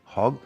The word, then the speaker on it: Hogg: be talking about with now, what's the correct pronunciation? Professor Carolyn Hog Hog and we are going to get on to the biodiversity thing.